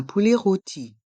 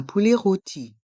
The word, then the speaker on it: poulet rôti: prononce e poulet roti le O a un accent circonflexe donc on accentue le son roôti un poulet roti un poulet rôti du saucisson du sauc